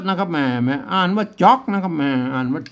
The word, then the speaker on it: จ๋อก: ตัว อ่ะ สัญกา นะ ครับ มา อ่าน ว่า จ๊อก นะ ครับ อ่าน ว่า จ๊อก นะ ครับ แหม่ ได้ แล้ว นะ อ่าน ตาม